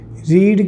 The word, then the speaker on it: read: रीड की third form रीड ही रहती है, रीड रीड रेड, मतलब स्पेलिंग वही रहती है, रीड रेड रीड बोलते हैं।